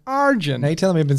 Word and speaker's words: Arjun: was in Primary School people used to go Arjun and I'm like it's Arjun but it's like arjin they tell them I've